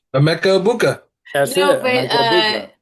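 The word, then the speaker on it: Emeka Egbuka: We said Emeka Buka. that's it, no, but Emeka Ibuka. Yes, but I pronounced it right.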